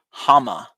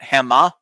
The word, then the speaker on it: Hama: Oh, it's pronounced Hama. Like hammer, but Hama or Hama.